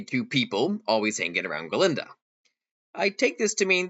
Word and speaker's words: Galinda: goat Professor Dr Dilan cannot pronounce her name correctly yes Miss Glinda though Glinda has two blackes they along with the entire student body really don't serve any purpose other than supporting galinda yet I think the